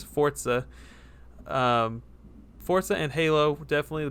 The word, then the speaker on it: Forza: I think they're turning it around, and I think that Forza actually, I've been saying it wrong my whole life. It's Forza.